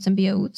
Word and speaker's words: symbiote: Symbionts, with an N, the technical term is not symbiotes, symbionts are two organisms living in symbiosis.